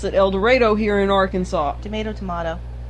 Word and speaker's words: El Dorado: We pronounce it El Dorado here in Arkansas.